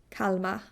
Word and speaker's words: Kalmar: those 2, you can decide that you're from Kalmar, where you barely pronounce the R at all, a little bit in a German way. Kalmar. You kind of let it suspended.